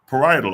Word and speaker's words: Parietal: Now look, let's go into the partial lobe. I said partial lobe. Let me see how to pronounce this properly so I don't be running around here saying the wrong thing. How you pronounce it? Parietal.